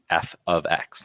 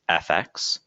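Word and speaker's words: f(x): talking about something like f ofx now this is not pronounced fx please don't say fx it's f ofx meaning the function dependent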